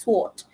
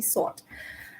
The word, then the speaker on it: sword: silent letters okay uh silent W answer sort news because when when kids watch TV they would imitate from the TV so they would end up pronouncing it as sword okay is actually sought can I have um